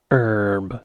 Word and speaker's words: herb: you heard just there I pronounced it with an H at the beginning because there's an H there there is an H there herb that's probably something you